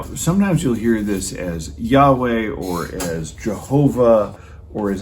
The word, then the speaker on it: Yahweh: that comes from yahweh so we put the vowels in it gets pronounced yahweh sometimes you'll hear that